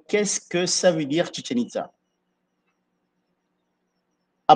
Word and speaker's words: Chichen Itzá: que ça veut dire chenita Ça à il faut bien prononcer c'est chien it ha la bouche dansénote des sorcières de l'eau qui date de 9e siècle.